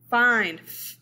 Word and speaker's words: find: This word, find, find, long I.